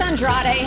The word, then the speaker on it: Andrade: Alex Andrade has been in the news this week. Been quite controversial here in Florida, but I'm actually loving it. Alex Andrade, that's how you pronounce his name, a very exotic sounding name.